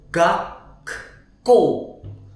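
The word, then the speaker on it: 学校: Oke, jadi pembacanya itu gakko, gakko. Oke, K-nya double, gakko, ya.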